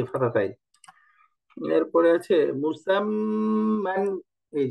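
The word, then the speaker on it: مُسَمًّى: তো এটা পড়তে হবে মুসাম্মান, মুসাম্মান। এই যে দেখেন মিম দম্মা মু, সিন ফাতহা মিম সুকুন সাম, এই যে মিম ফাতহাতাইন মান, মুসাম্মান। অর্থাৎ তাসদীদের মধ্যে দুইবার উচ্চারণ করতে হবে, আমরা সামনে পড়ছি তাসদীদের উচ্চারণটা।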